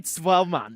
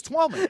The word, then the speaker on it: Twellman: It'd be like calling me Twellman because I'm German. Like, no, it's not. My name's Twellman.